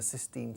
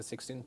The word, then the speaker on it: Sistine: you say in English the sixteenth chapel sixteen knows the FE says no Sistine Sistine on sssss Sistine Chapel Sistine and you don't need